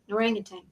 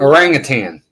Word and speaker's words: orangutan: orang of tan yeah there's no g at the end and it but I